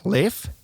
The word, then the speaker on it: Leif: or somebody introduced me, I thought they said it that way. Leif. Is that how you say it? Leif. Yeah. And everybody else kept saying leaf. So, I just diverted back. Yeah. It's called I go with either or.